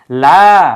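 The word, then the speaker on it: لا: জন্য অথচ এই জায়গায় যদি আপনি এক আলিফটা এনে পড়েন লা অর্থ না লা ইলাহা কোন ইলাহা নেই অর্থাৎ মিনিমাম এক আলিফ টান আপনাকে হবে যেহেতু টানের জন্য বাংলায়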